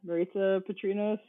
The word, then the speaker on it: Maritsa Patrinos: Yeah, Maritza Patrinos, rhymes with pizza.